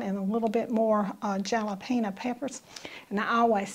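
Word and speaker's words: jalapeño: onions over mine and a little bit more jalapeno peppers and i always say that but kevin now how do you say that word again jalapeno every time i say jalapeno but it's jalapeno y'all excuse me but anyway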